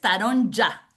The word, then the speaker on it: Taronja: de de la escuela, que ahora la voy a pronunciar correctamente, entonces taron ya. Taron ya. Lo que pasa que para no liar a los estudiantes de español, nosotros le decimos taronja y ya está. La famosa J, ¿no?